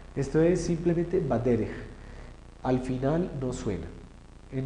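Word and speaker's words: בדרך: Entonces, ¿cómo se lee esto? Baderej. No es badereje. Y ahí molesta, ¿no? Eso no es el badereje, ajá, no, nada de eso. Esto es simplemente baderej.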